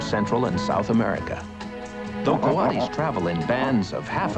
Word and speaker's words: coati: This is a Coati. You might have heard him called a Coati, since his name is spelled C-O-A-T-I.